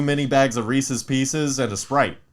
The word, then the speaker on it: Reese's Pieces: The correct way to say it is Reese's Pieces.